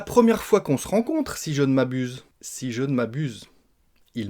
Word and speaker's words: si je ne m'abuse: On va manger des lettres, on va la prononcer si je ne m'abuse. Si je ne m'abuse, donc le nœud de la négation, vous avez compris qu'on le mangeait à moitié, si je ne m'abuse,